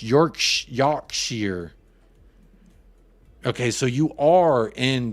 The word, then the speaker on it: Yorkshire: your noodle is canoodled I'm in Yorkshire pronounced York Yar okay so you are